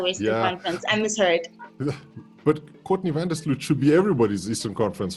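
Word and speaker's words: Courtney Vandersloot: It's Courtney Van Der Sloot.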